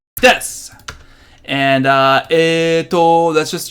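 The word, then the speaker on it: です: its ski Aki and it's not desu you it's this and it oh that's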